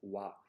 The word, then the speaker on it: は: particle a function word so whenever the character ha acts as a grammar particle you have to pronounce it as Wow so this is actually